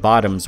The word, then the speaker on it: VOTOMS: a whole Army of bottoms waiting to take the Hot Load the others are too scared of and yes the pronunciation of bottoms is intentional it's supposed to be a dark pun well the protagonist of